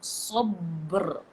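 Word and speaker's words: صبر: So, sabr. How do you pronounce that? Is Okay. it sabr? Kalau dia hidup, وَتَوَاصَوْا بِالصَّبْرِ. Sabri. Wakafkan. Sabr. Sabr. Artinya ada qalqalah dan terus bersambung dengan ra.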